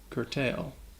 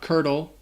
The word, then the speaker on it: curtail: word is curtail so this word has two syllables and the second syllable has that long a sound tail like you're talking about an animal's tail curtail curtail not curdle curtail can we curtail this